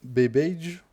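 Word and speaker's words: Babbage: Alors, c'est vraisemblablement le mathématicien anglais Charles Bage, si je on prononce à l'anglaise, qui le premier a trouvé une méthode d'attaque, mais il ne l'a pas rendu public.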